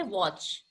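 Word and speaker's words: watch: करते जैसे हम बोलते वच वच मीस घड़ी वच मीस देखना भी होता है लेकिन डब्लू ए सी एच सिर्फ ना प्रोनाउंस हो रहा व टी को हम प्रोनाउंस नहीं करते हैं क्लियर सो टी इ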